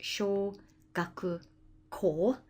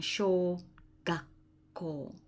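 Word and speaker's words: 小学校: Small, learning, and there's the character for school building, and it's pronounced sho gaku ko, and then it's merged to become sho gakko.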